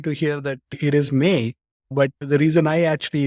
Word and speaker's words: MAE: different so it's it's pronounced as may as in the month of May because I'm born in